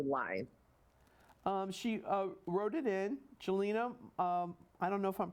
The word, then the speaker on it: Jelena: Jelena, I don't know if I'm pronouncing her last name. Yelena.